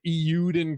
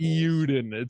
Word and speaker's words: Eiyuden: It's called Euden Chronicles. Euden Chronicles. Euden. Euden. It's spelled EIYUDEN Chronicles.